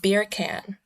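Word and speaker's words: Bircan: by the name of Beer Can. Yes, it is pronounced beer can, at least as I've heard him pronounce it.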